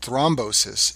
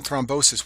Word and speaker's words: thrombosis: Second complication of stance is called thrombosis. It rhymes with reinosis, but it's a totally different problem and much more dangerous.